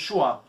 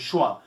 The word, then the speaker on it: Schwann: oligodendrócitos e a célula de Schwann, que tem uma similaridade muito grande.